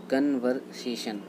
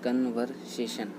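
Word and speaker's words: conversation: Next है हमारा कन्वर्सेशन। इसको लोग पढ़ते हैं कन्वर्सेशन, तो कन्वर्सेशन गलत होता है। इसका राइट होता है कॉन्वर्सेशन।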